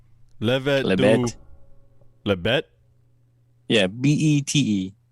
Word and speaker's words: Bête: Yeah, Bete, but it's pronounced Bet.